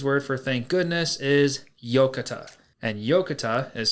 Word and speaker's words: Yokatta: And the Japanese word for thank goodness is yokata. And yokata is spelled Yokatta.